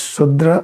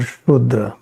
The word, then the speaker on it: Shudra: You can pronounce like this Sudra or Shudra, both are correct.